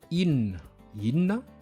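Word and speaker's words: inona: In, c'est quoi? Et aussi, in s'écrit I, petit i, N, O, N, A. Mais ça se prononce seulement in. C'est comme en anglais in, I-N.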